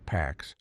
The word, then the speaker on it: P4X: To reduce those risks, he assumes a pseudonym P4X, pronounced PAX, a cheeky, ironic tag, peace enforced through punishment.